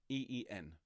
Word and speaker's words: even: but it's pronounced in e-e-n so the tenors start on there in the split and it's at the split in the spread of truth okay uh a little quirk of old english there so we're going to